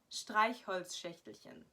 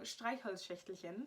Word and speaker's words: Streichholzschächtelchen: pronounce, which would be Streichholzschächtelchen. Because it has so many of those sh sounds that just aren't common in like the English vocabulary, that people just don't know how to say them. So Streichholzschächtelchen is probably really a